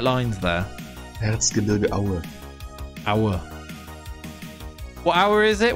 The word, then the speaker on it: Erzgebirge Aue: Erzgebirge Aue. That's how you say it. A football team. Erzgebirge. Taylor, yeah, you're right. You're on the right lines there. Erzgebirge Aue.